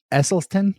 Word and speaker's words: Esselstyn: Esselstyn. Did I pronounce that right? Excellent. Dr. That's Esselstyn.